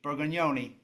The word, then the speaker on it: Burgoni: And then next up, we also have Francesco Burgon Burgoni. Burggoni. I I've got your name pronounced correctly.